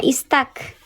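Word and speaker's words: استكثرتم: Istakthartum. Nah, istak. Karena hurufnya huruf yang ketiganya 1, 2, 3. Hurufnya fathah, maka dibacanya istak. Alah bocor. Istak dibacanya.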